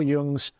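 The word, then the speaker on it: Jung: always say it wrong I've been correct Carl yung's um definition of the Shadow we often think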